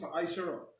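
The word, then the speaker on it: מעשר: It means tenth in Hebrew and is pronounced ma'asherah.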